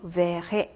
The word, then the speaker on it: verrai: 자, 그래서 발음이 자, 여기서는 je ferai 여기는 je verrai 이렇게 해주셔야 되는 거죠.